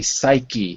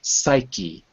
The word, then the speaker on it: psyche: some reason we say psyche it's very unusual to pronounce the e at the end of a word but here we do psyche psyche making people co2